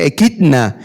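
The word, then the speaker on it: ἔχιδνα: Esta palabra serpientes es una palabra griega que se pronuncia ekidna, y se refiere, cuando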